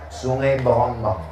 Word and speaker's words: Sungai Berombang: nama kampung kita Berombang tulisannya C berombang. Cara membacanya Sungai Berombang.